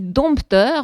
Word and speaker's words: dompteur: Voilà, Fréhel dit dompteur, on entend le peu. Donc finalement, ce qui s'est passé, c'est qu'on prononce spontanément ce peu qui est écrit et la prononciation de prestige de ce mot, c'est sans le P.